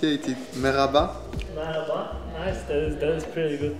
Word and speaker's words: merhaba: I know, but I don't know how to pronounce it. Merhaba. Merhaba.